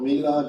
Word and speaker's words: Mila: So it's called Mila, like meal with a name. How do you pronounce it? Mila? Yeah, Mila. Mila.